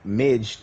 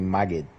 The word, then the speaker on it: Magid: Because who Midge, his actual pronunciation is actually Magid.